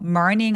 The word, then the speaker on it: morning: 아침 시간에 근데 여러분 이거닝 발음할 때으로 발음하시는 분들 진짜 많아요. Morning 아니고 마치 더 달라고 할 때 그 더란 뜻이 있죠. more 고게 있다고 생각해 주시고요. Morning이라고 발음해 보세요.